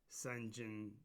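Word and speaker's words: St. Jean: But the king of Salafort is a man whose his name is Sunjin Smythe, and that is fundamentally Saint Jean with a different pronunciation, so it's ST period JEAN.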